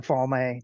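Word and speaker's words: Falme: go my own way I pronounce it falma like it's an Italian word oh there you go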